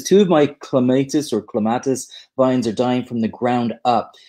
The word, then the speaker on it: clematis: Clematis is the pronunciation of the man's name that it's named after. So the really hardcore gardeners say clematis, but clematis, we all know what you're talking about.